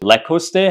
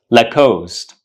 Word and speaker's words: Lacoste: do you pronounce it loste how do you pronounce it the correct pronunciation is lost leost leost so the next time